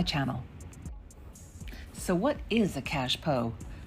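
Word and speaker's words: cache-pot: so what is a cash po frequently mispronounced as cash pot it's a French term for what is usually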